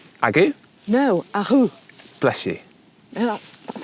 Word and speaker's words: AGU: It's not AGU. Agu? No, Ahu. Bless you. No, that's how you say it. Really? Agu? Apparently, it's not AGU or Agu. They're a Dutch brand, and that's how you pronounce it.